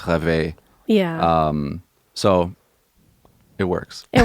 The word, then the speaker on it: rêver: It means if you conjugate it into a different tense in the French language, it would be pronounced rêver.